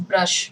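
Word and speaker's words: brush: face I यून नो ब्रश my teeth and सो on this इ ब्रश many people call it ब्रुश ब्रुश इ इन हिंदी तो आपको कहना है आई ब्रश my teeth now this is your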